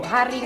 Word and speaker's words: haring: Haring bacanya haring.